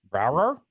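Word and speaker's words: Braugher: How do you pronounce his last name? Andre Brower? Brower.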